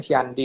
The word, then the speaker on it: candi: Karena candi itu dalam bahasa Sanskeran tulisannya kan c dicorak kita membacanya siandi, Pak.